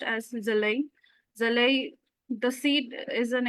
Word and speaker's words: Jwlwi: the screenings and uh the movie is rightly pronounced as Zel.